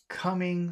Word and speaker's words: coming: Coming storm. Okay. And in coming, which syllable has all of the power? Coming. First syllable. The first syllable.